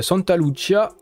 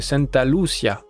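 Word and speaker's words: Santa Lucía: valait sera établie à Santa Lucia je l'ai un peu prononcé à l'italienne c'est Santa Lucia donc Santa Lucia c'est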